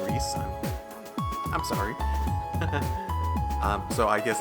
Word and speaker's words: Ries: Okay, and I think I was told that her name is supposed to be pronounced Reese, but Ria sounds so much better.